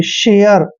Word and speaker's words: share: दोस्तों SH का उच्चारण हमेशा हम शे करते हैं और देखिए यहाँ पर ए को ए की मात्रा पढ़ते हैं और RE का उच्चारण देखिए यहाँ पर ये और रे करेंगे, शेयर, ठीक है ना।